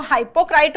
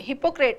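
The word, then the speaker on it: hypocrite: पाखंडी, ठीक है, कुछ लोग इसको हाइपोक्राइट बोलते हैं, हाइपोक्राइट नहीं है, ये हिपोक्रेट है।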